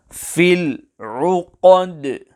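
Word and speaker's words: في العقد: The qaf must be pronounced clearly and not changed into a kaf, and the qalqalah on the letter dal must also be pronounced clearly without changing the sound of the letter dal as per the English letter D.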